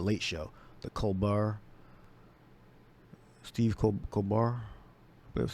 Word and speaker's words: Colbert: I believe the Late Show, the Colbert, Steve Colbert. That's how you pronounce his name.